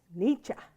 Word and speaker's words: Nietzsche: So Nietzsche. Yeah, that's the German.